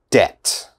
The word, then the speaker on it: debt: very difficult listen carefully debt debt okay which letter i don't pronounce debt this b never say debit or